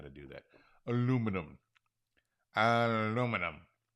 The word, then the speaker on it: aluminum: Aluminum. Aluminum. Aluminium. I think that's a European thing. It's even spelt differently. They have an extra syllable.